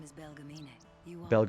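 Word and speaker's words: Belgemine: My name is Belgamin. You are Belgamin. That's how you say her name.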